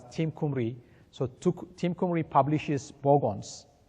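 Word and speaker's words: Team Cymru: Okay, so for bogons, you can check the Team Kumri. I didn't know that it's pronounced that way, but I came to know about it recently. So it's pronounced as Team Kumri.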